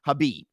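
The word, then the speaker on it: Khabib: so from my understanding his name is pronounced habib now hold on hold on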